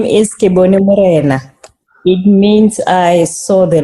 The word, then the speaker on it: Kebone Nthite: So Kebone, how do you pronounce your full name? My full name is Kebone Nthite.